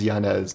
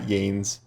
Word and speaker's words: Yanez: I think it's Yanez, not Yanes, like I always say.